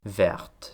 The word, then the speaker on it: verte: Het woord «vert» betekent “groen”, en hoewel die niet in de uitspraak voorkomt, schrijf je een “t”. Wanneer dit bijvoeglijk naamwoord echter congrueert met een vrouwelijk zelfstandig naamwoord, wordt die “t” uitgesproken, wat wordt aangegeven in de orthografie door de toevoeging van een “e”... «verte».